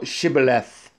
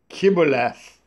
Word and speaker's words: Shibboleth: Then said they unto him, Say now Shibboleth. And he said, Kibboleth, for he could not frame to pronounce it right.